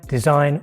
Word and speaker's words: design: For example, in the word sign, design or foreign. The G is silent before the N.